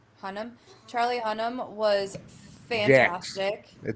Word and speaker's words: Hunnam: Charlie Hunam. Hunam. Hunam. Charlie Hunnam was fantastic.